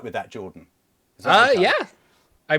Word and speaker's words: Jorphdan: Jordan, the PH is silent.